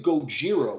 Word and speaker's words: Gojira: godzilla is like phonetic for the way Japanese pronounced Godzilla no no the the name the name Gojira which is now like a heavy it's like